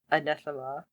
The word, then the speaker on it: Anathema: But when they bring poor Newton to see Anathema, did I say it right this time?